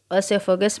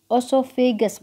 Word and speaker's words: ओसोफेगस: पहले हम खाना मुंह में डालते हैं, देन ओसेफेगस में जाता है, ठीक है, एक मिनट भाई, फूड पाइप, ओसोफेगस बोलते हैं। देखो इसका प्रोनाउंसिएशन मैं बोल रही थी, इसको बोलते हैं ओसोफेगस।